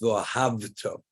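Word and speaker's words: ואהבת: It has to be pronounced vohavto, a V, vohav. And you have to make sure when you say the word, it's articulated as if you're saying a V sound, not an F sound.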